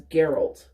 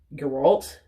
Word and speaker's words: Geralt: been in my head pronouncing it as Geralt but it's more like your alt and I'm just in